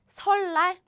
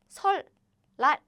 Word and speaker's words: 설날: In Korean, this is 설날. Now you know it. They meet, 리을 and 니을 meet, and 설날. To make the pronunciation easier, we use double L.